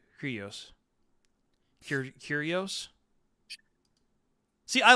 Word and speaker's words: Kyrgios: How do you pronounce his name? Kyrgios.